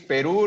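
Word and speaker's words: Perú: to talk about peru the proper pronunciation is peru normally in spanish we put an accent in the u so you just have to see it peru but well it's like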